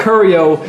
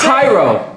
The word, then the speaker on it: Cairo: His name's not Curio, it's Cairo. I said Cairo.